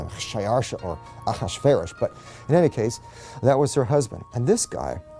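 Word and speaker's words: אחשורוש: Now, that was hard for the Jews to pronounce, so they said Ahashverosh.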